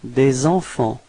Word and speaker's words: des enfants: So it's des enfants. Repeat. Des enfants. Okay, so final T and final S is not pronounced.